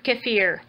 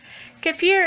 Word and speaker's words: kefir: And some people pronounce it kefir, so I guess it just depends on where you're at. Kind of like Caribbean and Caribbean, potato, potato.